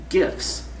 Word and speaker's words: GIF: So it can also do screenshots and GIFs, the hard G.